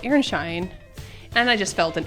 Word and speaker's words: Aronszajn: But then I found out that it's called Airshine.